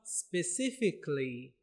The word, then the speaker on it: specifically: Na neno letu la mwisho kabisa na la 17 linatamkwa specifically.